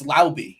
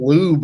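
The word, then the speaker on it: Laube: the horse's mouth and it's a it's lby if you're curious that's how you pronounce is Dylan Lube or something not a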